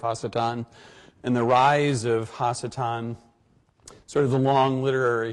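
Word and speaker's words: השטן: about the subject of hassetan or satan and i phrase it or pronounce it that way for a number of reasons not the least of which is the fact that it's not anglicized and also normally in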